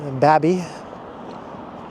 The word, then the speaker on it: Baby: So I've been told that that's how you pronounce it. Not like baby, but Babby, even though it's spelled like baby.